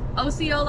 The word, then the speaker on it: Osceola: I'm three minutes to my pickup in Osceola Osceola Arkansas that's how you say it I'm three